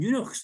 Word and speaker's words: eunuch: Now, I deal with Ethiopian eunuchs. Now, it's okay for Scottish people, because we can say eunuch has got the same ending as loch. It rhymes.